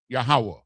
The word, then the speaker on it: Yahweh: Meaning that we all, in order to speak the name of the Most High God, you have to say it in Hebrew, Yahweh. That's how it's pronounced.